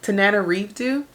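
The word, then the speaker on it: Tananarive: Tana RDO Tanana RDO I feel like I've been pronouncing her name wrong this entire time tan Nana reevo the Reformatory I gave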